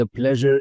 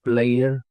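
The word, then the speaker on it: pleasure: were calling it Mayur so this is नॉट प्लेयर इट्स प्लेजर प्लेजर इज all mine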